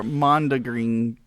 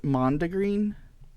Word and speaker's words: mondegreen: to our Mondegreen conversation. Lori taught me a new word. Hef probably knows it. He's a music guy. I'll let you talk. I'm thinking it's pronounced Mondegreen.